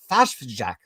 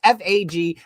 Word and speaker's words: Fajfejk: say his name correctly, Fashjack. Fashjack. Oh gosh, I should have asked you how to say it, but it's Fajfejk, and he did a phenomenal job.